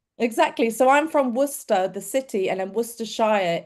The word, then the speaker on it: Worcester: It's called Worcester. Same spelling but it's pronounced Worcester. Exactly. So I'm from Worcester the city and then Worcershshire is the county.